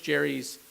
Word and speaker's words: Gerry: tend carefully to our Gerry collection, because they have his books ended up being the foundation of the Supreme Court's library, but we pronounce it with a hard G.